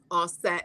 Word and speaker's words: Aset: use those terms, but the Medu Neter clearly has it written to pronounce it as Asar, Aset, and Haru.